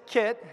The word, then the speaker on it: Kiet: So she, you know, Kiet, the American pronunciation is Kiet, and then, you know, so that's how Kiet introduces himself, but apparently the Vietnamese pronunciation, I'm going to butcher this, but is Giet.